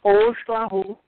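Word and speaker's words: Oxlajuj: 13, pronounced Ojlahu, by the Maya, is the highest number in the cycle, the numeric cycle of the sacred calendar.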